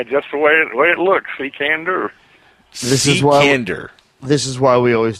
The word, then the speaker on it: Cekander: Because I know I butchered it. Cekander. Cekander! I was so far away from that. Yeah, just the way it looks, Cekander.